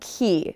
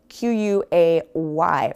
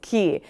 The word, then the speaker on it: quay: Okay, I was really confused about key, spelled Q-U-A-Y, for a long time, but the way you say it is not quay, how it looks, it's key.